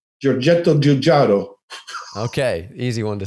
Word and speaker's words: Giugiaro: So, Giugiaro. Okay. You got to say it like that. Giugiaro.